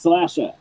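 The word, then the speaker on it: Slashr: a 2d horror game called slasher the Slash and then the letter R it's pronounced slasher you play as a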